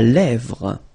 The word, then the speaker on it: lèvre: La lèvre. Remember, accent grave here. E, really open.